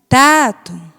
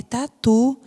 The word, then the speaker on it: tatu: Tato, Tato. Mas o nome é Tato? Não, é tatu. Então, como é que fica correto? Tatu, tatu. Então, o tu é a sílaba mais forte.